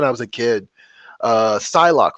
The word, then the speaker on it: Psylocke: was a kid uh psylocke from the x-men i used to call her pasloki i don't know why